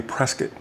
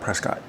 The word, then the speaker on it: Prescott: I keep saying pre It's got to be Prescuit, not Prescott. I got to remember to keep pronouncing it that way.